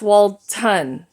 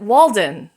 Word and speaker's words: Walton: what's Walden and what's Walton uh the street name was Walton w a l t o n but the map kept on calling it Walden w a l d